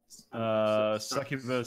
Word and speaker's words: succubus: How do you pronounce it? Succubus singular and succubi plural.